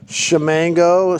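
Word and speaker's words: Ximango: It's pronounced Shamango, SH.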